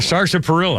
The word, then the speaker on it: sarsaparilla: Was there an R in there? Did you know that? Sarsaparilla.